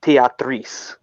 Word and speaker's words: Tetris: Apparently, it's pronounced Teatris.